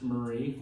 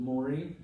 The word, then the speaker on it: Maury: And the reason we know that it's Murray, and it's always been pronounced Murray, although the family for whom it's named pronounces it Maury.